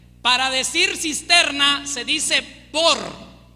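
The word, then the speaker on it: בור: e r ver para decir cisterna se dice bor b o r bor Okay Cómo se dice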